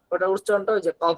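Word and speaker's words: قاف: একটা বিষয় আপনাদেরকে বলার জন্য, আমি শুনছিলাম, আমি যেটা বলছিলাম, কফের উচ্চারণটা ক, ক একটু এরকম আওয়াজ হবে, কফ। আর কাফের উচ্চারণটা স্বাভাবিক। কাফের উচ্চারণ করার সময় গলায় যাবে না।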